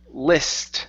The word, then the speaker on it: list: Next up, we have the word list instead of least. List. Okay, give me a short I sound.